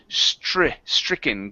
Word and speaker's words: stricken: And last one here is stricken. Give me a good TR sound here. Stricken. Stricken. Okay, Go right from the R into the I.